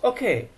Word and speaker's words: OK: ঠিক আছে, ইটস ওকে, ওরা কিন্তু ককে কর মতো উচ্চারণ করে না, একটু খর মতো খও না, ইটস ওকে,